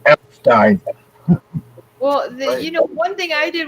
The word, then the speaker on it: Epstein: Everybody says Epstein. It's actually pronounced Epstein.